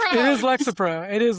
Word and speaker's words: Lexapro: It is Lexro. Yeah, it's Lexro. It is Lexapro. It is Lexapro.